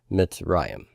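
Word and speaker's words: מצרים: okay so that is mitzrayim the right this is the word for Egypt by the way in Hebrew myths rah iam my accent is on that resh mitts Ryan okay so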